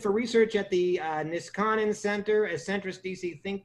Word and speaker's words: Niskanen: the vice president for research at the uh niskanen center as centrist dc think tank am i pronouncing that correctly no it's uh niskanen i think i got it more or less